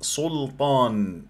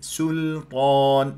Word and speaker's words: سلطان: القويه الوحيده غير متضاده كثير من الناس ينطق السين في كلمه سلطان يقول سلطان وهذا خطا زين لما تقول مثلا ما انزل الله بها من سلطان سلطان سلطان ولا تسحب لي ضمه السين الى اللام واذا ما اسو صد